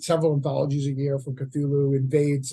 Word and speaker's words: Cthulhu: Kulu K yeah yeah cthulu cthulu is the proper uh proper Annunciation cool cool that's how